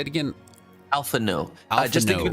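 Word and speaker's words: Alphinaud: no i just think it's as if it ends with the u instead of the d and i only know that because they've said it a lot in the game so i'm stealing their pronunciation i think it's supposed to be french or of the french dialect okay alpha no that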